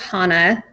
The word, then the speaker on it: Hanna: thank you wendy first off um it's it's pronounced hana i'm so useless for people say hannah a lot that i sometimes just like yep